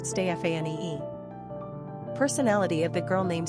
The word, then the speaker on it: Stephany: It was the French who mainly popularized the female Stephany, pronounced Stéphanie.